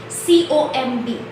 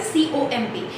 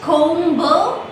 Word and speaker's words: comb: Now see, I spoke this word comb, C-O-M-B, right? C-O-M-B. Whenever the letter B is there at the end of the word, we do not pronounce it beta.